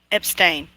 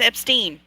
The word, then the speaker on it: Epstein: on abstain dun-dun-dun a lot of people do pronounces abstain not yeah they do they pronounce that stain I'm like now it's Epstein if I get Mandela people are texting me